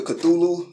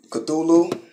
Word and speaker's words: Cthulhu: It's Cthulhu. Again, it's not spelled like it sounds. That's what I mean. It's a weird type of spelling.